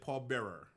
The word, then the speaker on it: Paul Bearer: Like we say Paul Bear. You say Paul Bearer. Okay, Right. now it was a difference. But that's how it's spelled.